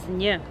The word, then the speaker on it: ň: It's very easy to pronounce because it's very similar to the word, to the sound in the word new in English.